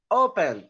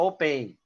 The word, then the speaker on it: open: Open, olha só, o verbo, a pronúncia, a gente não vai pronunciar open, você vai pronunciar open, ou seja, a sílaba tônica, a sílaba forte é a primeira sílaba, tá?